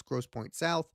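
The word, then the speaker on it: Grosse Pointe South: I did pronounce their their school wrong by accident. It's Gross Point South.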